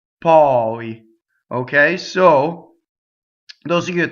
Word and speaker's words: poi: But poi is open O, poi.